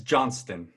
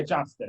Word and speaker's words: Johnston: It's Johnston. Yeah, Johnston. Okay, I want to make sure I was pronouncing it right.